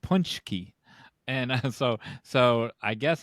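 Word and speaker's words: pączki: Danish uh so uh p a z that's pronounced punchki and so so I guess R A RZ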